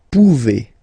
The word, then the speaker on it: pouvez: Okay, remember you pronounce it e. Okay, vous pouvez.